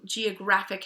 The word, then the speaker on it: geographic: is a suffix and we're gonna put the accent on the syllable right before it so Geographic has the graph or ecstatic has the stack that's where that accent is so second to last